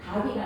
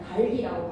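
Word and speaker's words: 닭이: 다이가 아니라 달기라고 발음하시고요.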